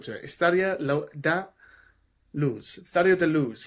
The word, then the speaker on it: Luz: Estádio da Luz. Estádio da Luz. Not Luis. Keep saying Luis. Da Luz.